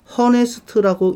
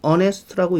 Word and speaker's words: honest: 자, 저 단어 honest라고 읽나요? honest라고 읽나요? 어떤 발음이 맞아요? 그쵸? honest라고 읽지 않아요. honest 이렇게 읽어요. 앞에 있는 저 H 소리 안 나요. 발음 안 납니다.